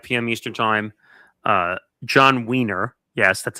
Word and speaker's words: Wiener: John Wiener, yes, that's how you say his name, from